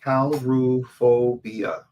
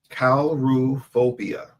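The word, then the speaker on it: coulrophobia: The chronophobia is called um Caluobia. What? That's how you pronounce it. Caluia.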